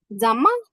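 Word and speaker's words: 怎么: জাম্মা, জাম্মা। যদিও এখানে এন আছে বাট এখানে এম এর উচ্চারণ হবে কি হবে?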